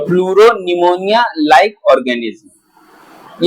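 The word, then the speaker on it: pneumonia: कुछ पीपी एल ओ निमोनिया pleuro like organism. हां इसका पूरा नाम है निमोनिया। निमोनिया की स्पेलिंग एन से नहीं पी से शुरू होती है।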